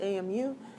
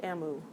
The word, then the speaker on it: AMU: AMU we pronounce it AMU it's not AMU some odd relative of an emu one AMU is defined